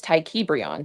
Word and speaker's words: Tykebrion: And it's Tykebrion. That is my birth name on my ID. But you never came up here and pronounced it like that. Tykebrion. One time. I got it now. I did actually. Tykebrion. Well, I apologize. Tykebrion. I can't forget it now. Thank you. It rhymes with Freon.